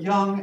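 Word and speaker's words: Jung: and young thought that carl young this is pronounced like a y thought that the more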